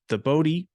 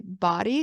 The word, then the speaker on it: Bodhi: It's called the Bodhi Blueprint. And it's funny because some people that don't know how to pronounce the word will say body because they're not sure what it's from.